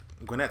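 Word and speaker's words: Gwinnett: I'm in the Wasteland gwet Stout uh or Gwinnet Stout although I pronounce it gwet um I do live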